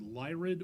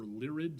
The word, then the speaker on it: Lyrid: The Lyrid or Lyrid, depending on how you pronounce it, meteor shower will be peaking in just about another week and a half.